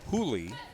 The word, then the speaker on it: Juli: It's spelled Julie, J U L I, but pronounced Julie.